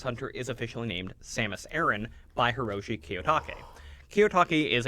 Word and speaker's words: Aran: And I also want to point out that it's pronounced Samus Aaron, not Samus Iran, like you'll hear a lot of people mispronounce on YouTube, because Ple's name is Arantes.